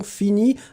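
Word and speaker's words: finis: bien sopia x attention fini he F i n i s n'oubliez pas le S Renato Silva aussi n'oubliez pas le S on ne prononce pas le S mais il est là allez on continue avec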